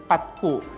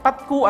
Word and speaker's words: patku: Oo, kaya nga, they said that patku is a corrupted word kasi nga hindi ma-pronounce ang bata Kasi ang Pasko. usually kapag bata, ang S na papalitan ng T yan, di ba?